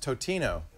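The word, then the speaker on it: Totino's: We for a while we begged for we begged for Tostino's pizza rolls to do ads, and then I found out it's pronounced Totino, and so we figured that's going to be it, right?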